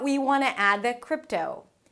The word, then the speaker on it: crypto: Before that we want to add the 'crypto'. Crypto - it's a 'k' sound and then an R - "kr". And then you move on to the 'ih' sound as in 'sit'. Not "kreept", but "krip". "Krip" - somewhere between "ee" and "eh" - "krip".